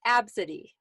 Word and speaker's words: Abcde: So the next one is spelled ABCDE. Do you know how that would be pronounced? That is pronounced Absidy.